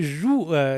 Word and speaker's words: joug: Et Yara est sous le joug d'un dictateur. Alors, le joug ou le joug pour Julien, puisqu'il prononce toutes les dernières lettres. Moi, je dis joug.